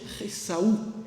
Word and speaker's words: Esau: Puisque Esau, on devrait même prononcer Ressaou. Ressaou en hébreu, c'est une petite guturale ressaou.